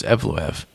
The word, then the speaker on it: Evloev: I've been calling him Evloev forever. It's it's Evloev. According to Bruce Buffer.